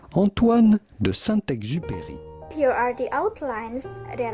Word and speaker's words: Antoine de Saint-Exupéry: How do you go about pronouncing his name with the typical French pronunciation? Antoine de Saint-Exupéry. Antoine de Saint-Exupéry.